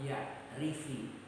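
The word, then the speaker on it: يَعْرِفِ: Man lam ya'rif, man lam ya'rifi. Dibacanya tidak ya'rif karena di depan ada tasdid Allah. Jadi kalau pakai sukun nggak bisa baca, akhirnya dihidupkan dengan kasroh.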